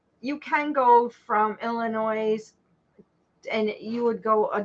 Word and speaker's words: Illinois: Well, I'm just saying there's no S in Illinois.